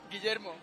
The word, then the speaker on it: Guillermo: Guillermo. But we all call him Guille, so Guille is okay.